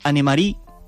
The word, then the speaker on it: Annemarie: Voy a hablar de una peli que pude ver anoche, que es Annemarie, así se pronuncia, dedicada a Annemarie Heinrich.